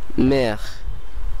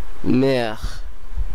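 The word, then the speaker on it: mère: আপনাদের মনে রাখতে হবে এর উচ্চারণ গলা থেকে আসতে হবে। এরপরের শব্দটি হলো মের, মের, মের যার অর্থ মাতা এবং এর বাংলা কাছাকাছি উচ্চারণ মের।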